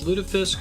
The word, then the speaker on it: lutefisk: It's lutefisk because it's a Swedish Norse Danish word and they pronounce it that way. English speakers pronounce the word more soft and round.